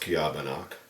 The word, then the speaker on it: Ceobanach: boys from uh this book say pronounced kabano translate Smoky Mist um heavily